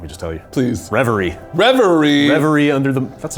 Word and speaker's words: Reverie: Reverie? Like if you want to get real French. Reverie. Do you want me to just tell you? Please. Reverie.